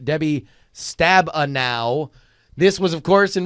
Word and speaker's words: Stabenow: show from Friday the 14th of July it's pronounced debbie Stabenow this was of course in reference to senator